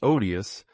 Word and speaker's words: odious: ,At home I had always heard the first syllable of this word pronounced with a long 'o,' like 'ode,' but M. and Mme. Swann made it short, as in 'odd.', 'Just think of.